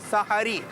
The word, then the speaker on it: سحری: اس کا صحیح تلفظ ہے سحری.